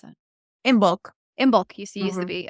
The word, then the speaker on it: Imbolc: How do you pronounce that? In bulk.